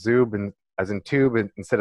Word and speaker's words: Zub: Ukrainian descent my grandpa Ukrainians so it's it's pronounced zu band as in to band instead of subs and